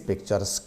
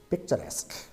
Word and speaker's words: picturesque: Some people pronounce like this, picturesque. No, it's not picturesque, it is picturesque.